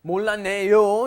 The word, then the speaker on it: 몰랐네: It's not 몰랐어요. 몰랐어요, when that 시읒, that double 시읒, 쌍시읒 comes before an N, it becomes 몰랐네. That turns into an N sound.